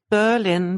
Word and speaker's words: Berlin: They do that with Berlin very often. Yeah, yes, right. Discovered, Berlin. Yeah, Berlin. exactly. Yeah, it's this 2 syllables.